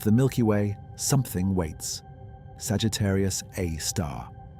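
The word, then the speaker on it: Sagittarius A*: Sagittarius A star, abbreviated SG A star, pronounced Sagittarius Aar.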